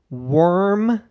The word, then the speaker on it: worm: It's just word, but with an M instead.